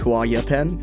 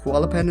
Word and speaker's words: Huallepen: just now realizing that I think it's actually pronounced Hau yapen because it's from Chile but I'm struggling with that so halaan it is this crypted